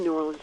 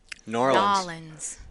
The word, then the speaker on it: New Orleans: Yeah, I mean, I lived in New Orleans for many, many years. You didn't say it right. New Orleans. There you go.